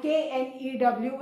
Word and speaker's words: knew: दोनों में K बेटा साइलेंट होगा. K का प्रोनाउंसिएशन कहीं भी नहीं बोलना है.